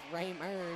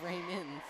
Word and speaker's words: Raymer: And I just learned that Whyatte has been saying someone's name wrong this entire game is Raymer, not Raymond.